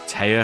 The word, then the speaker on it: Téa: I thought Taya was supposed to have one of those symbols over the E or the A. Pronounce it as Taya because it just looks like T.